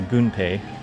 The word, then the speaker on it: Gunpei: games that came out gunpei or gunpei as you pronounce it in japanese which is his uh